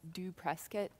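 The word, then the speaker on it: dopresskit: free to use it's pronounced actually this is pronounced do press kit but you can go online search for it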